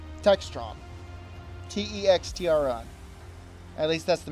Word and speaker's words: Textron: Is that how the company name is pronounced? Truxton? Textron.